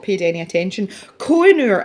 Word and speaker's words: Koh-i-noor: Koh-i-noor, it's not pronounced koh-i-noor, is it?